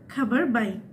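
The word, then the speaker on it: khabar baik: আপনি বলবেন, আমরা যেরকম বলি ভালো আছি, তো এটা হবে খাবার বাইক। খাবার বাইক মানে ভালো আছি।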